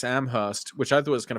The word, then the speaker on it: Amherst: jer jer Jeff Jer he pronounced it to uh he went to UMass AM host which I thought was